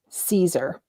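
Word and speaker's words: Siser: easyweed and it's um it looks like it's scissor but it's pronounced caesar okay and it is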